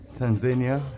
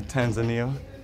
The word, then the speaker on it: Tanzania: wonderful time here in tanzania or tanzania depends if you're pronouncing it the english or the swahili name yes yes family is